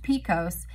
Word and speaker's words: PCOS: polycystic ovarian syndrome PCOS PCOS often shortened and pronounced Picos is the hormonal condition